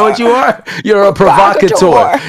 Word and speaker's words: provocateur: You're a provocateur. He pronounced it mad good. You know, the R was strong.